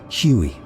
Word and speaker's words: Huey: Its nickname came from its original designation, HU-1. Soldiers simply pronounced the letters. Huey.